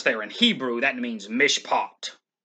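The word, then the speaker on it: משפט: in hebrew that means mishpot mishpat is how it's pronounced in hebrew that means verdict or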